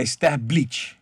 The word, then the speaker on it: Sterblitch: Como pronuncia seu nome de verdade? É Sterblitch.